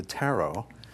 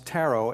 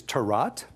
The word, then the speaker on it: Tarot: wonder and mystery now you may hear me pronounce Tarot as Tarot or taro actually either pronunciation is fine the only one that is not is Tirat that's what we leave bad vegetables to do so taro or